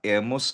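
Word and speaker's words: hemos: lust a nosotros nosotras emos bosotros bosotras abeis eos eustedes an so spanish ang lal letra h or h ay silent mute okay mud silent iyung letter e as A emos abase an.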